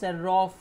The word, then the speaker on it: Serov: So it, since it's a Russian word, we pronounce it as Serov.